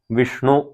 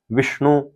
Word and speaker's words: विष्णु: का ही उच्चारण होगा जैसे विष्णु वि श अणु तो आगे ट वर्ग का अण है इसलिए उसको उच्चारण विष्णु ही होगा यहां पर विषणु उच्चारण बिल्कुल नहीं होगा स्वस्तिवाचन में आपने अधिकतर